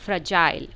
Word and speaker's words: fragile: Based on vowel sound इसको हम divide कर रहे हैं 2 पार्ट्स में, फ्रज आइल। Second part ILE is magic E pattern. सो जो ई इन द एंड है वो साइलेंट है एंड it's making the I take its long sound.